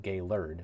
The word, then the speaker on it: Gaylord: Simon with a five euro super chat saying since you were talking about uh Traverse earlier gay lord is pronounced gay lur which I'm pretty sure